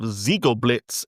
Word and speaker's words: Ziegelblitz: Here we have Ziegelblitz at Gator Park in Germany, I think is how you say that.